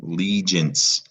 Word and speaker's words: allegiance: Notice the E, right? Allegiance. That E is responsible for that soft G sound in allegiance.